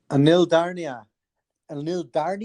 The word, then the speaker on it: Anil Dharni: Anil Dharni, even is that the right pronunciation?